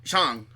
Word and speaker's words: Shang-Chi: So it's not Shang. Shang.